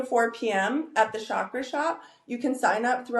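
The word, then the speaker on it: Shoppe: at the Shakra Shop.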